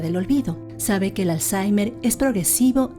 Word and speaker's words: Alzheimer: i m e r yo le pronuncio y y de acuerdo a la gramática Española y yo digo Alzheimer no sé cómo se dirá en en alemán pero eso esa es